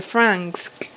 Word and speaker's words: Franxx: ella es del anime de Darling in the Franxx. Creo que se pronuncia así, Franxx, es F-R-A-X-X, perdón, me saltó una N, F-R-A-N-X-X.